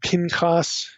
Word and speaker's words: Pinchas: Okay, that's the way most of us would pronounce this. Phineas, or Pinchas in Hebrew.